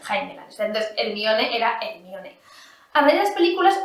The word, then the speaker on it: Hermione: Claro, bueno, Hermione. Yo, Hermione, porque yo decía, esto está en inglés. Pues para mí, La H se pronuncia y la E pues me la pongo.